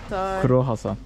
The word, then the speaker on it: croissant: I'm French, so Okay. I know how to pronounce it. No, I know better than you. This is Kro Hasan.